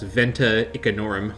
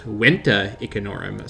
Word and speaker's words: Venta Icenorum: It actually would be pronounced Venta Icenorum, so you can skewer me in the comments for my failure at a Roman enthusiast for that one. So I will be trying